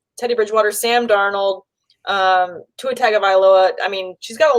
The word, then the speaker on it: Tagovailoa: Lock, Phillip Rivers, Teddy Bridgewater, Sam Darnold, Tua Tagovailoa. I mean, she's got a lot of options there. Nick Foles, I think there's a lot of great, end of It's tongue of Iloa.